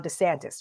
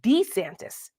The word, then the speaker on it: DeSantis: pronounces his name now I've been calling him Ron DeSantis right DeSantis but apparently Ron DeSantis pronounces his name Ron D santis now this may seem